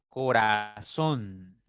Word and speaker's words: corazón: Entonces en son está la sílaba tónica.